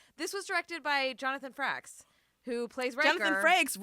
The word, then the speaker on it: Frakes: was directed by Jonathan Frakes, who plays Riker. Jonathan Frakes, Riker, what? Yeah. He's a great director. So Frakes, not Franks, Frakes.